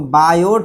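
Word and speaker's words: Biot: यहाँ पे T silent है। बहुत से लोग बायोट भी पढ़ते हैं, बायो भी पढ़ते हैं, जो आपकी मर्जी जो पढ़ना चाहें।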